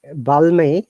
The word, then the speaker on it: balmy: is that in this balmy the L is always silent L is not pronounced you'll be surprised to know that it is a longer sound and L is silent oh yeah Mommy is balmy okay that means Pleasant